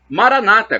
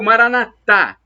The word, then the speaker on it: Maranata: e agora eu clamo Maranata como dizem os protestantes evangélicos com a tônica na penúltima sílaba ou Maranata como dizemos nós católicos com a tônica na última sílaba e o que importa